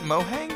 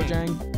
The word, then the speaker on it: Mojang: Is it Mohang or is it Mojang? Mojang. I don't think it matters at this point. I think in Spanish they pronounce the J with an H, but I'm pretty sure they're European.